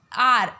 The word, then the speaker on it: hour: ही इज़ आर। अब इसे कैसे प्रोनाउंस करते हैं? HOUR आर।